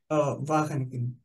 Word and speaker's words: Wageningen: How do we pronounce that, Pablo? Wageningen.